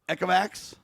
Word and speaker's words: Ecovacs: Ecovacs, I think is how you say it.